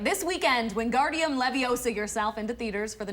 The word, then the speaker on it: Wingardium Leviosa: thank you happy all right this weekend Wingardium Leviosa yourself into theaters for the newest film in